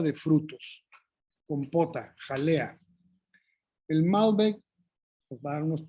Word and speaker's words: Malbec: Y entonces, pues, la uva Malbec, que no se pronuncia la C en Francia, como es originalmente su origen, como es su origen, perdón. Entonces, aquí ya nosotros en Argentina le dicen Malbec, creo, y aquí Malbec,